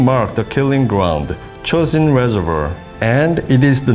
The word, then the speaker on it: Chosin: marked a killing ground Chosun reservoir and it is the name which echoes through history the name chosen is derived from the Japanese pronunciations of Chinese characters Tong Jian the November